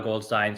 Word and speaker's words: Goldstine: They're all at Goldstine. There we go. Premiered here. Let's try that one again. They're all at Goldstine, spelled exactly like that. It rhymes with fine.